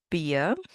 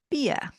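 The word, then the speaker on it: Bier: It is October Fest and the word that looks like beer because it means beer is pronounced beer. Beer.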